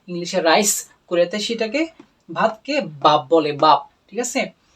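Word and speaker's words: 밥: তো এই ক্ষেত্রেও কোরিয়ানরা বলার সময় যেহেতু বটা প্রথমেই উচ্চারণ হচ্ছে, এই জন্য এটা বটাকে ভয়ের মতো উচ্চারণ করবে, ভাব।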